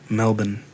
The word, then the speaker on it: Melbourne: for our Australian listeners I'm just going to say Melbourne yeah cuz that's how I hear it pronounced but her visa was